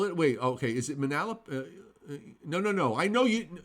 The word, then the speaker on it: Manalapan: it along well it wait okay is it Manalapan no no I know you don't worry about it it's from Manalapan we're all getting excited now pan scott broilers